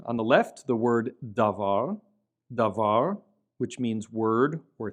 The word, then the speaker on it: davar: We see here on the left the word davar, davar, which means word or thing, davar. And notice that has a bet in it without the dagesh, and so it's not dabar, it's davar.